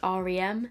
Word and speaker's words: R.E.M.: beauty or rem beauty i think it's supposed to be pronounced rem because then it's like ari ariana grande which yeah if